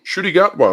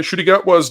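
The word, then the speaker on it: Ncuti Gatwa: I pronounce that I I think it's shoy I think they say shoy shy gatwa okay shy gatwa Doctor Who Christmas Day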